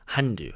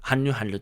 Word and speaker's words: Hallyu: So I looked up and I found out Hallyu is basically the same pronunciation of Korean word Hallyu, Hallyu, the same word, and